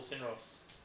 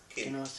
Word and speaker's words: Kinross: So if we're agreed on Kinross, Kinross or Sinros? Kinross, Kinross. I've been saying it wrong the whole time.